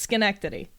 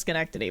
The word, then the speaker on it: Schenectady: is it shrine activate Schenectady I thought ocean equity it's not shit it's Schenectady okay I'm pretty sure no I've only ever heard it pronounced Schenectady but I don't know